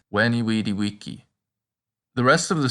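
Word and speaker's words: vici: and remember also that the letter v is pronounced like a w it's wiki the rest of the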